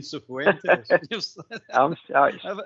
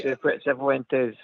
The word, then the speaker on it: Cifuentes: What I'm impressed with, Old Bear, is the pronunciation of Cifuentes. You're going to get everybody. I'm saying Cifuentes.